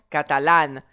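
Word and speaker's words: catalán: Elle publico deè exemple catalane. J'ai un mot j'ai un accent sur le A final. Je me pose pas la question. Catalane. Le a final de catalane va être accentué.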